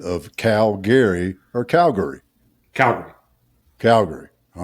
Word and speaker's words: Calgary: And I'm wondering, what is the proper pronunciation of Calgary or Calgary? Calgary.